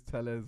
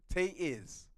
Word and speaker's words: Telles: Are you gonna pronounce his name correctly or use Tellez like the court did even after they corrected him? Tay-Iz. Oh, I didn't even know. Tay-Iz is how he says it's to be pronounced.